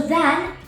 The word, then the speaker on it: than: So than has the long ah sound, than.